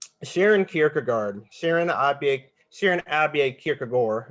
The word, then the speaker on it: Kierkegaard: Kierkegaard Sharon Sharon Abbey kierkegor if you want to say the right Danish pronunciationally so so I hear